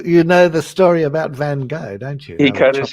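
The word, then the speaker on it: Van Gogh: I I like van you say van go don't you I say van go van that's that's the that's the real pronunciation Kent has something in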